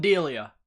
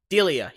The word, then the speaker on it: Delia: Oh, how you pronounce his name is Colin Delia. Delia. That's it.